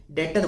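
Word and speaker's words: debtor: यह डेटर ठीक है इसमें बी साइलेंट होता है डेटर बोला जाता है तो डेटर कौन हुआ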